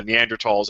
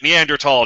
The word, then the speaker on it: Neanderthal: uh neanderthals and whatnot i pronounce it neanderthal damn it um fine if no one's getting after you well i i'm so i'm so used to people trying to correct me even though that's the correct pronunciation i just get very